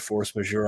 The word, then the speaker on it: force majeure: And am I pronouncing that right? Force majeure.